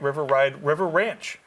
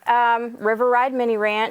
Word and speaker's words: River Ride Mini Ranch: So tell me all about River Ranch. Okay, sure. River Ride Mini Ranch. Oh, I said it wrong. Say That's it one okay. more time. River Ride Mini Ranch. River Ride Mini Ranch, okay.